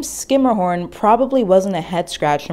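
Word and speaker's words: Schermerhorn: of fancy houses in manhattan's seaport district saying skimmerhorn or skirmahorn is the accepted pronunciation but if you slip up and say shurmur horn no one will fault you for that either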